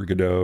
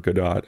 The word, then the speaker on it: Godot: use a unity or godot or gadot how everyone pronounced that uh you know that's